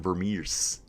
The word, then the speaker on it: Vermeersch: It was more like Florian Vermeers. Not Vermeersch, as I say.